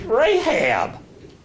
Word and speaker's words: Rahab: It's Rahab. Now, last week we studied Rahab, and we studied the Joshua fighting the battle of Jericho and the harlot Rahab being okay.